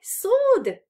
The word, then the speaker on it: sword: february i got my sword back yeah sold me it remember pronunciation we don't read the w which is there and spelling so not it's not a sword it's a sword uh and i got